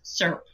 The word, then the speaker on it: syrup: And she responded, "In Texas, there is only one syllable in that word and it's syrup."